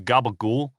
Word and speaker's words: capicola: people who say that you have to pronounce mozzarella as mozzarell yes capicola is gabagool I mean it's gabagool and we are yeah